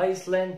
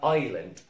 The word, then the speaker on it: island: ما اسمهاش لا ايسلاند ولا ايزلاند ولا ايزلاند، اسمها island island.